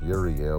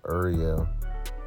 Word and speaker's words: Uriel: Or like known to pronounce it as Uriel, but really it's Ariel. Ariel.